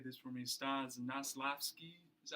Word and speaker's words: Stanislavski: Stanislavski. Is that how you pronounce it? Yes, Stanislavski.